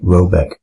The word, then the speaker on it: Roback: The manor house or herrgård in question is to be called Roback, pronounced something like Robeck, though that is not its name.